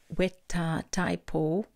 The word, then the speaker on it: Weta Taipo: There's a guide to the pronunciation here. It's Weta Taipo, and it's called Cave Weta.